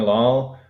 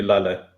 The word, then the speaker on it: Lal: Most people just call me Lal. The proper pronunciation would be Lala.